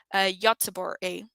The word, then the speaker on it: Göteborg: It actually tells us the town, which is in English, it's pronounced Gothenburg, but in Swedish, it's pronounced, and I hope I'm saying correctly, Göteborg.